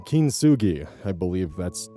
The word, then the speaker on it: kintsugi: Even processes like kintsugi, I believe that's how it's pronounced, where you use gold to repair broken pottery, still leaves the final result visibly altered.